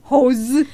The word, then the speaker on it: hose: host ที่ แ ป ล ว่ า เ จ้ า ข อ ง บ้ า น ไ ห ม host no host hose ม า ฮ ี ไ ม่ ใ ช่